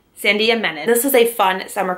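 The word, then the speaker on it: Sandhya Menon: My pile is When Dimple Met Rishi by, I finally figured out how to pronounce the author's name, Sandia Menon. Sandia Menon.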